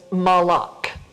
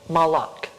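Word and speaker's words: מלאך: it down on here is malak now it's spelled with an m l k but with an aleph stuck right in there malak this is the same word as malek which is king and we're going to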